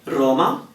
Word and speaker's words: Roma: about it quickly um when R starts a word then we tend to emphasize it more which means if we can roll then we'll roll it more okay Roma it's a little bit stronger than marito now another time where